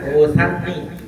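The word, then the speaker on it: أسني: Usanni, kalimat usanni bi fathah, sanya fathah. Usan al musalasa, sa 3 titiknya. Jadi bacanya usanni. Nanti ada yang lagi baca wa usni, ada yang baca usni, ada yang baca usanni.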